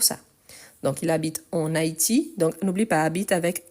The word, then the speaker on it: Haïti: Donc, on utilise, même si ce soit masculin, car le mot commence par une voyelle ou un H muet, et on fait la liaison. Donc, c'est pour ça. Donc, il habite en Haïti.